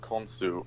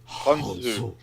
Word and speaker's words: Khonsu: It's like a syllable we don't even have, and even in Arabic, it's like a totally different syllable.